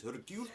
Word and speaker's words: Hercule: They kept calling him Hercules in the movie. It's not because going it's jerk. actually Hercule. Hercule. Hercule. Poirot. Hercule. Poirot. Yes. Poirot. It is Hercule Poirot.